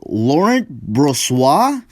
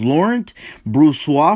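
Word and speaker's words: Laurent Brossoit: for this game is laurent broswar i think is that's how you pronounce it and matt murray for the ottawa senators laurent bruce wa for the winnipeg jets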